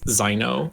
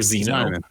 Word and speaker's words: Zniw: I believe Rick was saying the W is supposed to be pronounced like an O, so it's Zino or Zeno. I think it's Zino.